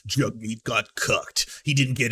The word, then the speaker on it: Jagmeet: Or the incomprehensible insistence by Jagmeet Singh, sworn enemy of the real working man, pronounced Jagmeet, that the proper role of the socialist NDP is to indefinitely prop up Trudeau's...